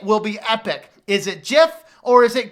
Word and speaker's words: GIF: be epic is it jiff or is it gift according to the guy who created it it's pronounced jiff but of course now